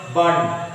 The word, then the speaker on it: one: Actually, we should not pronounce 1 rupee note. We have to pronounce bun. W-O-N. Bun, rupee, note. Bun, ba. Ba is the consonant, okay.